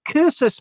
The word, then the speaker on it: cursus: cursor's monuments and The cursus Monuments yeah it's about c-u-r the C is pronounced K from the Latin curses um as in